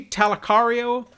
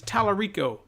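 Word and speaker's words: Tallarico: I see Tommy ring I say I see talaq REO but it's Talarico I'm in try that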